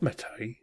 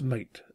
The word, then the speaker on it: MATE: we've been to mate it's not metal its mate that is how it's spelt ok we invented in